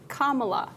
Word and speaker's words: Kamala: You put and then you just add a la to the end, Kamala.